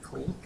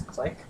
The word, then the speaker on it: clique: I've had this confusion my entire life, where I've always thought it's pronounced cleek, C-L-I-Q-U-E, and but then I had an American friend and I heard her say it as click, and I was like, what?